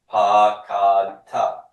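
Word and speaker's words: פָּקַדְתָּ: Where does my accent want to be in the CalPerfect? By default, root 2. And it'll always stay on root 2 unless some ending makes it go to the back. So, since root 2 is not the final syllable, ta is final, I do want my accent mark here.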